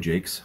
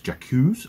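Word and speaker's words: Jacques: written by brian jakes for years i thought it was jakku's i thought it was like a very french name but everyone i've heard actually pronounce it other than just me reading it off the page is jake's so i was looking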